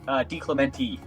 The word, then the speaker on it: DeClemente: I pronounce it DeClemente. Clemente. Ah, you are one of those that goes E.